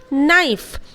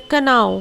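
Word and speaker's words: know: तो उसके बाद है नो। बहुत कोई बच्चे इस तरह प्रोनाउंसिएट कर देते हैं कनाओ। What is कनाओ? कनाओ is totally wrong, wrong pronunciation.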